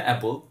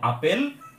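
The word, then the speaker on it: apple: বাংলাতে এটাকে বলি আপেল, ইংরেজিতে কিন্তু আপেল না, ইংরেজিতে উচ্চারণটা হচ্ছে অ্যাপল।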